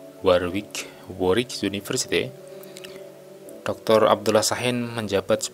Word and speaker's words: Warwick: Sebelum bergabung di Warwick University, Warwick ya bacanya, Warwick University, Dr.